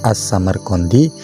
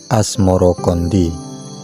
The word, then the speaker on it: As-Samarqandi: atau Maulana Ibrahim asmorokondi sebutan itu mengikuti pengucapan lidah Jawa dalam melafalkan assamerkondi yang kemudian berubah menjadi asmorokondi ulama lain yang